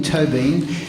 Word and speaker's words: Tóibín: name he said what's toe as in tow and being as in being Toby and then I listen